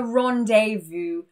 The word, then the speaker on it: rendezvous: And with the letter Z, it's exactly the same, a rendezvous.